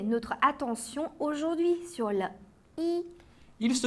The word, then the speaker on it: 一: Lorsque i est seul ou lorsqu'il forme un numéro, il se prononce au premier ton.